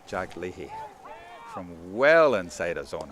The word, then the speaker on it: Leahy: I started with Leahy, but I'm going with Leahy now. Definitely Leahy.